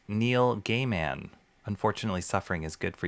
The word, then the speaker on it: Neil Gaiman: He grew up with a name pronounced Neil Gayman.